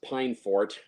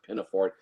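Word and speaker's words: Peinforte: review of the story that i mispronounced her name as pine fort uh i think i flash on the screen a little message saying oops sorry it's it's really pronounced pinaford but yeah played by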